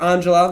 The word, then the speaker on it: Angela: Speaking of my name and my family, my sister Angela, what I call her Angela, that's how you pronounce Angela, it.